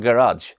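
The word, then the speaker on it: garage: দ্য কার is being repaired at দ্য গ্যারাজ, উচ্চারণটা হবে গ্যারাজ।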